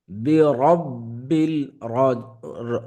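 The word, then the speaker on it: رَبِّ: ফালাকুল আউজুবি রব্বিল ফালাক রব্বিল র উপরে যখন জবর অথবা পেশ হয় র মোটা করে পড়তে হয় ফালাক হরফটা কলকলাল হরফ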